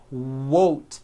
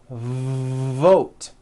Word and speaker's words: vote: The word is not wote, it's vote.